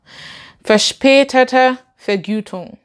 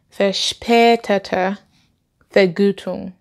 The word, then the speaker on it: verspätete Vergütung: Okay, I'm using an English accent, sorry about that. Verspätete Vergütung. Verspätete Vergütung. Yeah, that's how to pronounce it.